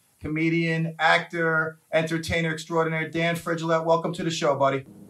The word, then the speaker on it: Frigolette: Frigolette. Isn't it like Gillette? Like Rigoletto. Oh, so it's not like Gillette. It's Frigolette. Frigolette, yeah.